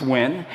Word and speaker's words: Nguyen: it's a play on my last name win which no one can pronounce in the US so it's win and I have basically